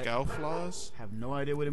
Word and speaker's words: Scouflaws: How is it spelled? S C O U F L A W S. F A L WS. F L A WS. Yeah, you're pronouncing it right. Scowl flaws.